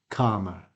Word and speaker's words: calmer: camera camera camera camera so you can hear there are two different ways to pronounce this word camera or calmer in most dictionaries you will find the received pronunciation which is the same as arm art so it is calmer next one park next